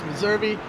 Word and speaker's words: Meservey: Meservey, is that how you pronounce it correctly? He's in 20th. The chat, all 1,000 people have gotten on to us and said it's Meservey. Now we have it right.